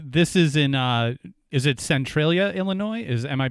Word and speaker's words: Centralia: And this is in, is it Centralia, Illinois? Am I pronouncing that correctly? Yes, Centralia, Illinois.